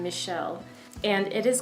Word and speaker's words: Michel: is by Michele Faber I think you pronounce his first name Michele and it is called